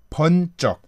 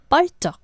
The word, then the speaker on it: 번쩍: So yeah, so it's 번쩍. Instead of 벌쩍. Instead of 벌쩍, it's 번쩍.